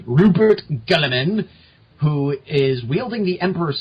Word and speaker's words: Guilliman: His official pronunciation is Guilliman.